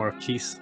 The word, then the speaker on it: MarQuese: you know my name or a cheese little uh pronounced it's a flat s but uh no one